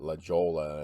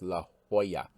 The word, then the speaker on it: La Jolla: diego rattan company 1950s i always want to pronounce that la jolla and i know that is completely wrong but i have to stop myself but it's la jolla four dollars on a